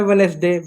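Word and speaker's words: Wednesday: यानी जैसे वेडनेसडे वेडनेसडे when वेडनेसडे hand करीफ। Hand kerf है। यहां पर भी देख सकते हैं जो डी है साइलेंट है।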